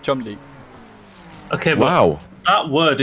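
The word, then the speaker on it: Cholmondeley: Chalmondley. Chalmondley? It is, believe it or not, Chumley.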